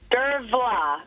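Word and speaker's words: Dervla: Irish oh Irish and so the BH is is pronounced as a v yeah it's kind of like sioban it oh of course I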